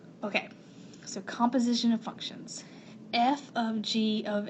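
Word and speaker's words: f ∘ g: and the g so that is actually not the word fog it usually looks like this it's like a tiny little g and you pronounce that f of g and that is called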